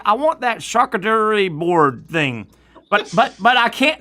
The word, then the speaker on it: charcuterie: I hope this isn't naughty, Patrick, but you can always go with cooter board. Yeah. And the other one, charcuterie board.